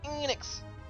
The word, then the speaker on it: Enix: It's pronounced Enix.